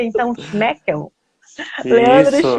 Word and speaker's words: Schmöckel: Me diga aí como é que se pronuncia, então, Schmeckel. Leandro Isso, Schmeckel, boa exatamente.